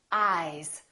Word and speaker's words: eyes: these two words ice eyes listen to the difference ice eyes this s is actually pronounced as a Z sound this is actually this